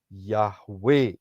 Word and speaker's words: Yahweh: Ya, kalau Saudara perhatikan huruf-huruf di depannya adalah YHWH, yang dipronunciasikan adalah Yahweh itu sendiri.